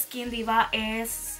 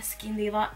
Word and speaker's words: Skin Deva: Y esta marca que les estoy hablando es Skin Diva, así mismo se pronuncia, Skin Diva, y ellos me enviaron tres diferentes serum.